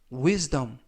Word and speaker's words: wisdom: 뜻이 되겠습니다 이번 표현은 withd wis dum 이라고 발음하시면 되겠고요 이때 유의하실 점은 s가즈 발음이납니다 품사는 명사 뜻은 지혜